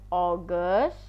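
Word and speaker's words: August: dibacanya ngga Wulan Juli Astuti ini gile kemudian oges dibacanya oges Oke seperti itu Hai kemudian eh November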